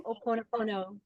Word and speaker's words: Ho'oponopono: and give her the open, how do you pronounce that? Give that to, Ho'oponopono.